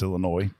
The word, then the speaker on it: Illinois: There's also no noise in Illinois. It's Illinois.